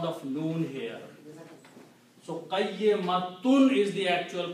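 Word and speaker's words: قيمة: When you stop, you don't continue, you do not pronounce noon sound and do not pronounce ta sound, but you just change that into a ha. So it will become qayyimah.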